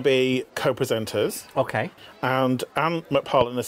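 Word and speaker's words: McPartland: And Ant McParland has said, we owe such a lot. Ant McFarland. Ant McParland. That's it. PH does an F sound. No, there's no H in it.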